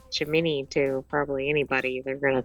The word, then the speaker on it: Gemini: Jimini is actually the accurate and Gemini is the not accurate.